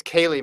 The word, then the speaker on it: Kaylee: they going to be celia mccabe of west virginia uh oh it's kaylee mccabe by the way we got an email about that okay apologies okay hard c uh no i don't